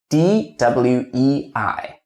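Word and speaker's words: duì: A says here you can rewrite into dwi. If you rewrite this U into W, you will find the pronunciation is easier for you.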